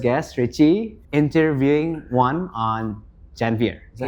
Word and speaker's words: Janvier: Kalau mau lebih I wouldn't say pretentious, but the right way to say it is Janvier. So, it's French.